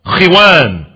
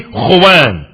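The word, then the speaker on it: خوان: That mat that you put on the floor is called khiwan or khuwan. It's called khiwan or khuwan. More properly, khuwan.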